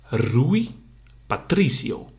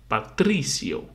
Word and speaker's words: Rui Patrício: famous uh goalkeeper and you say it like this rui Patricio so you have the accent on the uh on the first uh I and you say rui so it's more like one rui Patricio so you have the accent on the E Patricio so see you next